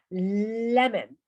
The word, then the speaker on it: lemon: Lemon. Lemon. Y es un truquillo de la pronunciación, ¿vale? Lemon. Cuando una palabra en inglés acaba en ON, normalmente se pronuncia en.